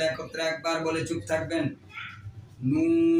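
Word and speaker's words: نون: আপনারাও আপনাদের জিহ্বার আগা তারপর উপরে তালুর সঙ্গে লেগে দুই ঠোঁট গোল করে হরফটি উচ্চারণ করতে চেষ্টা করবেন। আমি একবার বলার পর আপনারা সকলে একত্রে একবার বলে চুপ থাকবেন। নুন, নুন, নুন।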